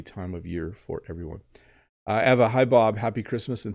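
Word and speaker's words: Ewa: Eva by the way if your name is spelled like that and you're from Poland the W is a v Eva so if you're wondering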